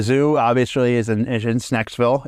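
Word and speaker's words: Schnecksville: Um, so the zoo obviously is in in Snacksville. It's uh between North White and Loyal Township. Oh, that's how you pronounce it. Okay. Yeah. Shnacksville.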